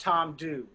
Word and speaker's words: Tamdhu: cloud distillers hunter lang before it's pronounced Tom do Tom do Tom do